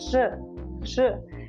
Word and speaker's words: ř: And that is actually how to pronounce the R, okay? Now you will decide to release it suddenly, abruptly and a bit violently, okay? R, and loudly, R, zvíře. Okay, so after these three